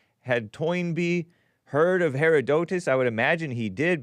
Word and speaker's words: Herodotus: Now, the argument about a Greek historian, you know his name, Herodotus. I was pronouncing it Heroditus because I thought it had an I, but it's O. Herodotus.